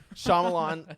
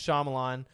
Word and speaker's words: Shyamalan: ding-dong no i'm sorry that's how you say his last name shyamalan it's i looked it up actually to make sure i say it right respectfully it's shyamalan and so uh basically the